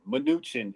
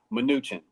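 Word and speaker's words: Mnuchin: and it looks like a smidge its nutrient minuchin is how it's pronounced thank you sweet teas minuchin is how it's pronounced thank you that's why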